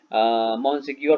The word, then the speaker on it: Monsignor: When मॉन्सिग्योर, ये French word है जिसको मॉन्सिग्योर प्रोनाउंसिएशन की जाती है इसकी.